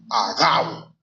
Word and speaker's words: Agabo: pronunciar este nombre, pero me fui a las reglas gramaticales del español, hermano. Entonces, para mí se pronuncia Agabo, porque no tiene tilde. Entonces, al no tener tilde, tiene que ser así.